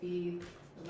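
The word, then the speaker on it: בּ: That's a dot here, which will make it be the letter bet or bet. And this Hebrew letter makes a B sound, b.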